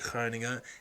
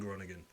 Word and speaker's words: Groningen: you might be wondering why i'm pronouncing it like heininger instead of groningen but that's because i live out here and i probably get slapped for saying gronigan it might get a